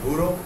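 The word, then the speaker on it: bureaux: the pronunciation now no the x is silent in plural it should only be written there is no change in pronunciation it will remain the same so here you are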